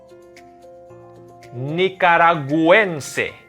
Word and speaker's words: nicaragüense: We have to pronounce the U. Nicaragüense.